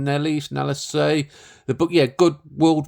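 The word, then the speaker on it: Nélisse: Jeffrey Rush, Emily Watson, Sophie Nelly, did I pronounce her name? Nellis.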